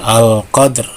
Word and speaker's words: qadr: Lailatul qadr, bukan lailatul tapi lailatul qadr ya. Kemudian cara membaca waqaf ya 2 sukun ya, al qadr. Nah, ketika dal sukun ini berarti qalqalah sugro ya. Nah, dibacanya dipantulkan lailatul qadr.